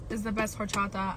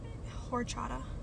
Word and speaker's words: horchata: to go somewhere else horchata H is silent h is silent or Chata um that doesn't sound